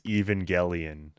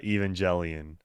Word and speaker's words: Evangelion: that's self-referential humor the like gun thing even mispronounces Evangelion as evangeli or yeah Evangelion all I'm saying is is that game would